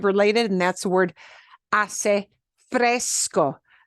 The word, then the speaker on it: fresco: and that's the word Fresco fresco sounds like the soda Fresca yeah Fresco means cool